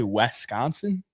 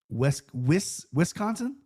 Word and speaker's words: Wisconsin: Wisconsin. Yeah. How do you say it, bro? Bro, it's it's an I, not an E. Wiscon. Wisconsin.